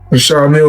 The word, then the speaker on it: Richard Mille: No, I like to call this a Well, they people pronounce them different ways. Richard Mille is what my jeweler told me, so.